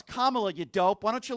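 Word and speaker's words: Kamala: Okay, so first of all, it's Kamla, you dope.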